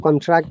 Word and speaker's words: contract: minutes more okay let us listen to the sound contract as a noun contract against listen carefully british english noun contract contract contract monica contract susie contract look this is american contract but in british there is strong speed contract contract so monica have